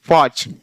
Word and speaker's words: porch: ऐसे आचर्ड, OCHARD आचर्ड, PORCH फॉच। अब CH स यहाँ प्रोनाउंस होगा, देखिए CHASSIS यानी सेसिस या चेचिस।